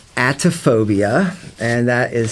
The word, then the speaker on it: Atephobiia: I have a SoundCloud account that's under the name Atophobia, and that is spelled Atephobiia, and the address on that is